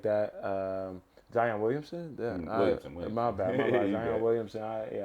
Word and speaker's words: Williamson: Hopefully we can get somebody like Zion Williams in a situation like that. Zion Williamson? Williamson.